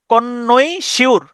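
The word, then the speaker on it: connoisseur: খুব কদর করেন এই ধরনের মানুষদেরকে বলা হয় কনইশার তাহলে সি O double N ও আই এস এসই ইউ আর কনইশিউর আপনি এভাবে উচ্চারণ করতে পারেন কনশ কনইশশিউর কনশর ঠিক আছে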